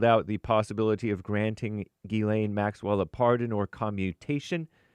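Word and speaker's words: Ghislaine: Gileain A Max Maxwell looks like Jizlane Maxwell, but I think it's pronounced Gileain Maxwell.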